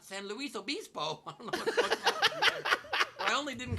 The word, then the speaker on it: San Luis Obispo: of all it's pronounced san luis obispo not san luis obispo i only didn't correct you because technically in spanish it's a spanish name luis is luis and not lewis like we say it but colloquially you're wrong